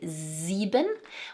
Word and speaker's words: sieben: The 's' making a 'z' sound at the beginning of both 'sechs' and 'sieben'.